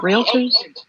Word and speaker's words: realtor: I can't pronounce it. Guys, I'm dumb. Retailers. Yeah, retailers are the property people, aren't they? Retailers, yeah. Are you on about yeah, no, you got Come on, realtors?